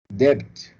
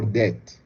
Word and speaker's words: debt: we call it oxygen debt or debt sometimes the b is not pronounced so that this added